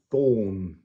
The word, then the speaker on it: Thorn: Thorn. Thorn. Thorn. So you'll see underneath, thorn is the first word to give you an idea of how to say the word. This is the unvoiced TH. Thing. Thorn.